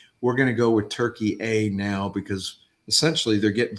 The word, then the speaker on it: Türkiye: Nations and they say the proper way to say Turkey is actually Turkey A and we want that